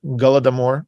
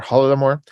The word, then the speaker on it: Holodomor: The Holodomor is a Ukrainian pronunciation of Golodomor or Holodomor, and essentially it is a famine.